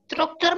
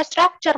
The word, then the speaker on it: structure: Apakah pronunciations-nya Connie sudah benar? Struktur, ma'am. Struktur. What? Bukannya harusnya structure, ma'am.